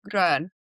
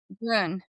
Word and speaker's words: Gröhn: And joining us today, our special guest is Salorosa Grun. Did I pronounce that correctly? Yeah. Yeah. Yeah, it's Grun. Thank you. Yeah, Grun for for clarity.